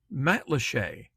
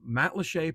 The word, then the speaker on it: Matlacha: Matlacha, pronounced quite like a French word, but is likely a